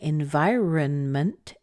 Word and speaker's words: environment: when people say that so environment has a pattern like this it's mmm by year and month that's actually a pretty normal pattern it the first syllables week the second syllable strong the third syllables weak the four syllables weak so ba ba ba ba and the stress here is the vie part kind of that V